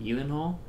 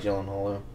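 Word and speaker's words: Gyllenhaal: Hall do you know that's how you're supposed to pronounce her name is Yen Hall it's not I like jillen Hall yeah this mispronunciation I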